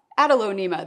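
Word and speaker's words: Adelonema: So one of these is an Aglaonema, and one of these is an Adalonema, that's how you say it.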